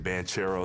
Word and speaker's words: Banchero: name yeah i mean banchero is probably the most common uh because of the ch but yeah i mean